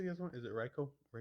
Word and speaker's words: Raikou: Is it Raikou? Raikou.